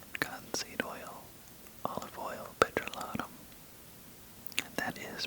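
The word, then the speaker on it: petrolatum: Cocoa butter, cotton seed oil, olive oil, petrolotum. That is prolotum by the way. It's not petroleum.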